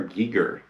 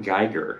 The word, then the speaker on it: Giger: Giger, not Geiger. He's not a Geiger counter. He's the late, great artist, H.R. Giger.